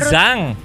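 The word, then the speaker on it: 얼짱: Oh, Oh, baru- Ulzang. Apa? Ulzang atau Itu bacanya Olzang. Ulzang. Tulisannya Oljang, Uljang memang.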